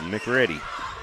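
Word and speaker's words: McCready: We got Cindy Summerland in the chat says MC Ready rhymes with ready. Okay. And Gloria Whale says, "Go Senators." Okay. So, MC Ready, we got you.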